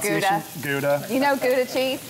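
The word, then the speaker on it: Gouda: oh Gala galda which is American uh called guda you know goua cheese it's not Gala so it's not GAA GA it's some good Gala though it's guda so I'm just going to take this this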